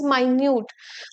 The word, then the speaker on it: minute: This is नॉट मिनट, this is माइन्यूट.